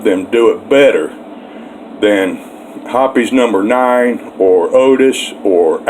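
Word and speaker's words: Hoppe's: well over 40 years and yes it's officially pronounced hoppies hoppies and i haven't found anything better now it's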